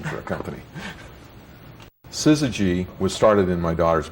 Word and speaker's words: Syzygy: techies and engineers and the fact that nobody could pronounce it or spell it didn't seem to bother us and uh people called us suzuji and suzuji and and we thought